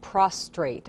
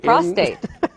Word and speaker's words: prostate: the first okay and I'm really glad that you said it right because I hear a lot of prostrate and prostrate something different it's something different that's when you're flat on the ground exact prostate is what we're talking about today um and